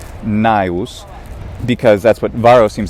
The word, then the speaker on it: Gnaeus: pronunciations of the gn initially it was probably just a plain n sound naius because that's what varus